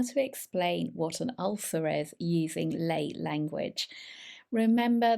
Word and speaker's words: ulcer: listening carefully well it's ulcer so this is an all not a u but it's like up up the r in British English is very weak so we would say